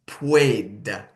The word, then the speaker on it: puede: UE is pronounced like ue. So it becomes puede, puede.